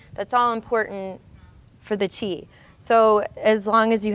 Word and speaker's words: qi: flip this over so this is the word chi spelled Qi pronounced Chi um so Chi is